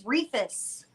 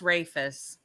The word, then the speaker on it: Rafus: I thought it was Refus. Yeah, it's actually pronounced Rafus.